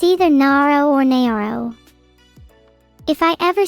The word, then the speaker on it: Neuro: It's either Naro or Naro. If I ever see a single one of you pronounce it as Nuro, I will destroy you.